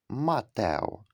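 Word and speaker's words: Mateo: англійська літера aй яка в цьому слові позначає звук а Матео ін інший приклад дівчинка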